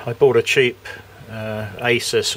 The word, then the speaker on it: Asus: I uh I bought a cheap uh Asus or ISUS as uh it seems to be pronounced, but I'm calling it an ASUS um laptop from Curry's a couple of days ago.